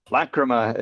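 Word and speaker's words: Lachryma: has a video, which is how do you pronounce it? Lachrima? Lacrima is the second Lacrima.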